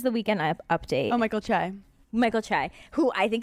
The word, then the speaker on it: Che: guy that does the Weekend Update oh Michael chai Michael chai who I think it's hilarious I've